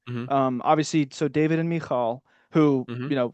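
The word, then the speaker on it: Michal: Um obviously so David and Mikall who you know growing up I always referred to as Michael right uh but they pr pronounce her name Mikall.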